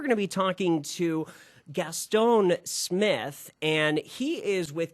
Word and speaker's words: Gueston: i hope i got your name right uh gastone gaston right gaston okay gaston i i i hate mispronouncing names so thank you um let's talk